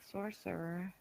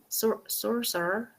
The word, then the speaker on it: sorcerer: Sorcerer. Sorcerer. How do? So this one's a little bit hard to say. You just say 2 R's in a row, basically.